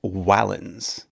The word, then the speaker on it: valens: valens, which means strong, although the Romans would have pronounced it closer to wallens.